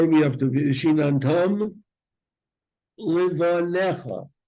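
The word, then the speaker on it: לבניך: Shinantam Livanecha. You don't pronounce that yud. The rule is any letter in the middle of a word that doesn't have an akuda is silent.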